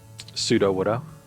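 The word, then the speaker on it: Sudowoodo: Pseudo-Widow. Oh, okay. As in fake wood, like, Pseudopod is fake foot, Pseudo-Widow is fake wood.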